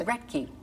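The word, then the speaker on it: Roethke: Reky. Reky.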